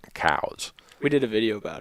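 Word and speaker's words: Coues: what I've found is if I call it coos the technical purists give me grief Randy you know it's really cows dear yes I know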